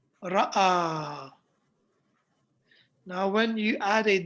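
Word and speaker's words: رأى: jalasa, just like kataba, but this one is ra, hamza, and alif, but the alif is in the shape of a ya. Okay, so it's pronounced ra'a.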